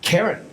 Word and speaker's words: Karen: Karen? Yes. Rhymes with Marin.